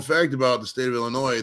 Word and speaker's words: Illinois: about the state of Illinois the S is silent now how annoying is